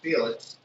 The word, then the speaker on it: Filax: John Filax, pronounced Felix, it's going to go viral or get, a lot more.